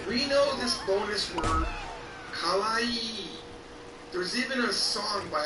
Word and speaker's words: kawaii: Now notice, kawaii has two e's at the end of it, so it's kawaii. Kawaii. Here's the problem. A lot of people mess this up. They say it wrong. And it sounds like this. Kawaii. Kawaii means scary.